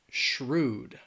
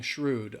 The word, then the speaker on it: shrewd: Um shrewd. All right, Adam is asking shrewd. Um there's just one shrewd. Shrewd. Uh it's just Yes, it's one syllable.